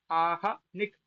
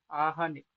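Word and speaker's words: आह्निक: इस अर्थ में अहन शब्द से है प्रत्यय होकर आहनिक। देखो, आहनिक ये नहीं है, आहनिक। हल्का सा हकार के लिए मुख खोलना है, उच्चारण हो जाएगा, तब तक निक का उच्चारण कर देना। तो अर्ध का तो ऐसे ही उच्चारण होता है, आहनिक इत्यादि।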